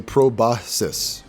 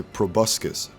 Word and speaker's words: proboscis: So scientifically they say proboscis. Proboscis? There's no k sound in that first one. And in everyday English we say proboscis.